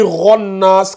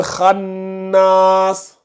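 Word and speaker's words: الخناس: Alcine, c'est pas ron. Toi, tu dis ronnas. Quand tu dis ronnas, c'est comme si tu mettais le roin. C'est comme si tu mettais ça. C'est comme si tu mettais ro. Ou comme ça, là. C'est pas ro. C'est kha. C'est le kha de Khadija, là.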